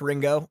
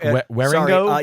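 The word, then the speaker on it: Wieringo: I think his art is Mark Waringo. Waringo. But it's pronounced I literally Ringo. typed in Ringo, like Ringo Starr.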